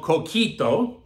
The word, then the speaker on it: coquito: I hope you like it and it's called coquito is how you pronounce it and those are the directions and